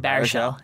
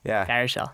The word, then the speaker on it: Baruchel: Baruchel. Yeah. Baruchel.